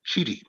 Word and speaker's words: Chidi: we get it right my last name is pronounced chidi c-h-i-d yes okay thank